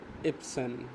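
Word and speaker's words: Erbsen: ইপসেন। আর এর উচ্চারণটা উচ থাকবে। দি ইপসেন ডি ইউপসেন মানে হচ্ছে র টাকে আরটাকে ইপসেন মানে হচ্ছে র এর মত উচ্চারণ হবে না এটাকে হালকা উচ্চারণ করে দেন চলে যাবে দেন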